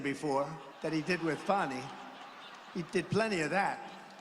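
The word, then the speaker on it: Fani: legit they're Biden counts he worked with fonnie even though it's spelled Fanny f a n i funny how about that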